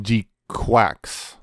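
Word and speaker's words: GQuuuuuuX: Apparently it's pronounced G-Quax. Yeah. Like a duck.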